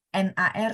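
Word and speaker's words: 哪儿: Iya, nar-nya langsung dibaca satu frase ya, Pak. Jadi nar, N-A-R nyambung jadi satu.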